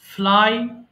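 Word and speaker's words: flew: ফ্লাই, ফ্লু, ফ্লোন। মাঝখানে যেটা আছে আমরা ভুল করে এটা ফ্লিউ বলে ফেলি, বাট এটা হবে ফ্লু। অনেকে এখনো জয়েন করেনি কেন জানি না।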